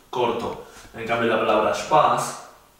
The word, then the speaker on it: Spaß: En cambio la palabra Spaß, la A es un poco más larga.